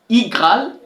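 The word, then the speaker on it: iGraal: permettre aussi de retrouver les applications ici facilement igal c'est comme j'ai prononcé là i ce n'est pas u i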